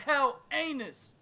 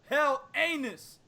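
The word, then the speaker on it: Helenius: And he might be fighting the winner of Adam Kalnaki versus Robert Hell Anus. No, I didn't say his name right. It's Robert Hell Anus.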